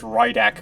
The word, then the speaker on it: Rydek: think i called him redact but i think it's pronounced rydak according to greg that is man that's